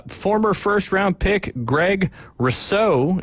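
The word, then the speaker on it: Rousseau: first round pick Greg rouso if I'm pronouncing that correctly believe it's Russo Russo like yeah okay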